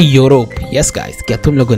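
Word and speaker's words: Europe: है yes guys और ये यू से शुरू नहीं होता ये ई से शुरू होता है लेकिन प्रोनाउंस होता है यूरोप यस गाइस क्या तुम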